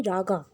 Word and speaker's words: Raga: century he invented many Raga now what is Raga actually it is called rag in your book I know it is written Raga but please pronounce it as rag now what is the